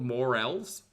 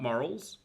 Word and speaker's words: morel: Wait, they're called morels, not morals.